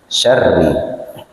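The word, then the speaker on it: شَرِّ: ya tipis itu meringis jadi tidak Syar tapi Syar Nah itu ya Jadi minar tidak Syar tidak Syar ya kalau Syar itu tebal tafim ya jadi ro yang berharakat kasrah itu dibacanya tipis meringis ya Syar tapi kalau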